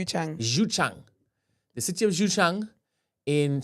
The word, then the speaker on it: Xuchang: Last headline, the city of Yachang. How do I pronounce that one? Don't you dare bring me into it. Do whatever you want to do. Xuchang. Xuchang.